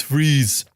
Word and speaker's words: Fries: It's not Fries, it's Freeze. Sorry, it's really hard to understand you with that accent. Fries? It's Freeze.